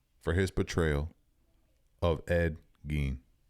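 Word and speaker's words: Gein: Charlie Hunan deserves an Emmy for his portrayal of Ed Gene. G. Is it Gene?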